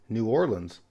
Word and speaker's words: New Orleans: about the Big Easy the proper pronunciation is New Orleans I think there are some older folks that say New Orleans but nobody says New Orleans or nawlins but in a plot